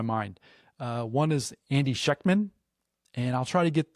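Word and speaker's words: Schectman: Uh, one is Andy Sheckchman, and I'll try to get the it's pronounced Sheckchman.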